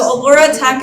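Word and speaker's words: Alora Tech: So Allura Tech is spelled A-L-O-R-A Tech.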